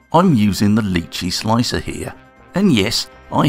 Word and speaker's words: Lychee: bit i will just say i'm using the lychee slicer here and yes i have pronounced that properly i reviewed this slicer recently